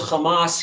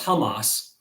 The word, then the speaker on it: Hamas: who hear me pronounce hamas hear me pronounce it technically incorrectly you're supposed to pronounce it as hamas but the hebrew word